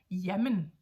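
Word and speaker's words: jamen: even spell it differently we would go Yemen as in one word one word Yemen j a m n Yemen Yemen is used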